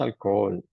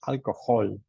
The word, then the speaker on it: alcohol: En Spanish, alcohol, but in English, alcohol. Like como una J, ¿no? Alcohol. I hardly ever drink alcohol.